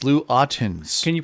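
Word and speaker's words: Ottens: his name well he was dutch and it's lou autens can you pronounce that correctly for us scotty that is lou attends thank you thank you very much thank yeah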